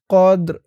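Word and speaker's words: القدر: হবে ক র কদ এখানে ওফ করার কারণে উচ্চারণটা কেমন হবে খেয়াল করুন কদর র আওয়াজটা লাস্টে একটু ভাসবে কদর ফি লাইলাতিল কদলাইলাতিল কদ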